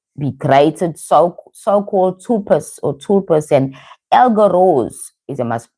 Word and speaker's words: egregore: Thought forms can also be created, so-called tulpas and egregores, is I must pronouncing this right.